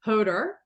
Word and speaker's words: Hodor: have with me today um Dr Jonah Jonathan hoder did I pronounce that correctly you sure did um and